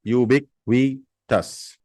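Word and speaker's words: ubiquitous: ओ यू एस इट इज यूबी यू बिक यू बिक वी टस यूबिक वी टस यूबिक टस यूब क्विटस यूब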